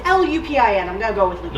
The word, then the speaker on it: Lupin: Whatever, it's L-U-P-I-N, I'm gonna go with Lupin. Lupin. Whatever. It's in French pronounced Lupin.